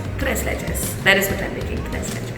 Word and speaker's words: tres leches: sure from Mexico and the right way to pronounce it is tres leches tres leches that is what I'm